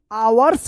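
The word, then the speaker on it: hours: आवर्स पढ़ेंगे। यहां पे एच साइलेंट रहेगा। एच ओ यू आर एस आवर्स।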